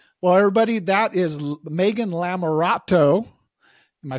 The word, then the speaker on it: Lamerato: thank you Rich well everybody that is Megan larat am I saying it right yes if not